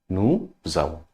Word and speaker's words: nous avons: Nous avons. S and A. When we combine in the pronunciation, it will give the sound of Z.